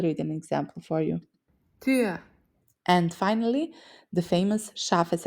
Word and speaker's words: Tür: for the correct sound, round your mouth as if you're saying but instead say ü. Überraschung, like in Kinderüberraschung, Kinder surprise, or Tür, meaning door. I'll read an example for you. Tür.